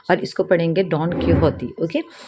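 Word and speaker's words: Don Quixote: तो देखिए, ये स्पेन की राइटिंग है, तो इसके जो नाम है, इसके जो प्रोनाउंसिएशन है वो थोड़े डिफरेंट होंगे। हम जैसे इंग्लिश में प्रोनाउंस करते हैं वैसे नहीं होंगे।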